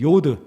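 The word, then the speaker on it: יוד: 요게 바로 요오드 입니다 우리나라 발음으로 치면 이용 발음 영어로 하면 y 발음이 되겠습니다 요드 그래서 이 히브리서 히브리어의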